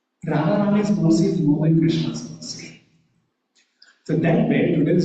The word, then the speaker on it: Krishna: So if you've learned some sort of pronunciation it is pronounced Krishna Krishna and let's say as N has a